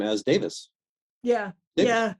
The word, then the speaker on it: Davies: and that that word that last name is pronounced Davis in England even though there's two spellings so it's either is which is Davis or I which is technically Davies but if people say